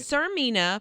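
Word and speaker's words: Tsarmina: velana like what but they put a t in front of the the first one yes sarmina did you say it right sarmina but it's spelled like the Zar of Russia TS a r oh gotcha yeah okay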